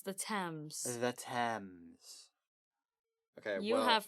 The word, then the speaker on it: Thames: It's the Thames.